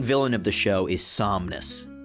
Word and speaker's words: Somnus: Um, our main villain of the show is Somnus. Somnness is spelled S O M N U S.